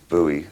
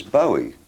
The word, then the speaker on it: Bowie: I always thought it was Bowie. I thought, well, it's a Scottish name, must be Bowie. But nobody in Scotland pronounces it like that. They pronounce it Bowie, I think.